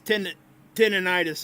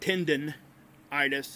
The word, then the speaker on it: tendinitis: you okay yeah it's it's tendinitis it's not tendon itis it's yeah tinnitus i